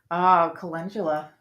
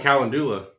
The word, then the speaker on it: calendula: Calendula. I love it. I just learned how to pronounce it too. We were calling it Calendula.